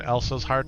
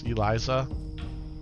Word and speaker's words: Eliza: Kept saying Elsa's heart for the embalmer, and it's Eliza. Eliza.